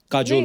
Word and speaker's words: काजोल: बड़ा यूनिक नाम है आपका, काजोल। काजल है ना, but काजल होता है, काजोल हाँ, but मतलब बंगाली में काजल। बंगाली में ऐसे बंगाली में लिखते हैं। ऐसे उसका प्रोनाउंसिएशन है पर सर।